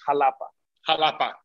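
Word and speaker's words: Xalapa: capital of veracruz is jalapa with an x j's and x's so jalapeno jalapa jalapeno jalapa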